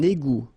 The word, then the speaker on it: égout: Un égout. Final T not pronounced.